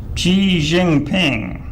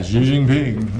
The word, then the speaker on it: Xi Jinping: rule of xi jinping i had to look that up how to pronounce it yeah xi jinping yes and uh there are several pronunciations in english language but that was obviously done by a chinese individual so i figured that was as close as anything my favorite joker they